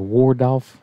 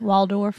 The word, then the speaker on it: Waldorf: cranberry sauce i like the what's it called wardolf how you say it waldorf wild door salad you said that completely backwards